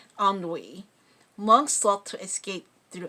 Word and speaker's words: ennui: In their that's pronounced ennui, monks sought to escape through excessive sleep, socializing, or aimless reading.